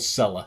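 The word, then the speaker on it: Sela: got shirt sponsors seller s-e-l-a and I'm not going to pronounce it in Arabic so it's just called seller it's a Saudi sporting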